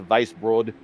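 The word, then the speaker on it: Weisbrod: will vice broad uh it's spelled w-e-i-s-b-r-o-d so if i'm using my german that's a vice broad uh 18th he's up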